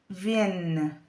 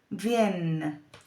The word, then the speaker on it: viennent: Que se pronuncia como una E larga, viennent.